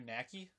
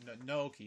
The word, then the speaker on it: Naoki: Plofa, Kufajoy, Yin, Arvin, Wait, you Naki? Yeah, Naoki, that's how you say it. I read it wrong. And it looks, and I said it really wrong too.